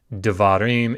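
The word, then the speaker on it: דְּבָרִים: So if it begins a word, the word devarim, you see there the little colon underneath the dalet, devarim, it begins the word, so you pronounce it.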